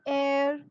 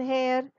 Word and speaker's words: heir: a silent h now in words where h is silent you don't speak the letter h you don't have the sound h at the beginning in those words you use an for example an are an heir an honest man an honor you will not say and hover and hair and honest manner and horner instead of that h is silent over here you start with the